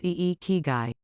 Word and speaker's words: ikigai: They refer to this as Ikigai, pronounce Ikigai.